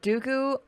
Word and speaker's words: Dooku: Lord Grievous is in the torture room, and Count Dooku, did I say it right?